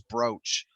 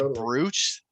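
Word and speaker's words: brooch: out loud and though the big one that always gets a lot of people is broach because it's spelled bruce so if you ever heard anybody say bruce no i don't think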